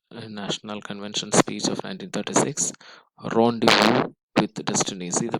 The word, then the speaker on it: rendezvous: It is pronounced as rendezvous. Rendezvous.